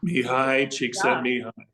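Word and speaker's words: Csikszentmihalyi: principle comes from a guy that is almost unpronounceable his name his name is knee high cheek send me I.E wow me high cheek sent me and he wrote one of the most remarkable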